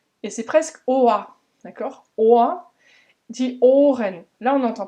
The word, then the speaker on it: Ohr: Et c'est bien Ohr, c'est un long O puisqu'il est rallongé par le H, Ohr, et le R à la fin se prononce presque comme un A dans plein de mots déjà en allemand, je t'ai déjà souvent